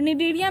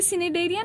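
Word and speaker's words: Cnidaria: ठीक है, अब नीडोब्लास्ट का स्पेलिंग देखो, CNIDOBLAST, मतलब सी साइलेंट है यहाँ पर। निडेरिया में भी देखो सी साइलेंट है, तो सी देख के सिनेडेरिया नहीं कर देना।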